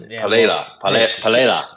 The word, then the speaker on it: Pereira: I think, obviously, Alex is going to have I believe is actually how you say it, but Alex Pereira. Pereira. You gotta it's hard to do. It's Pereira.